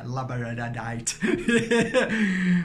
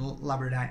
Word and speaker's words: labradorite: I can never say it right but yeah labradorite because they're so similar and they work hand-in-hand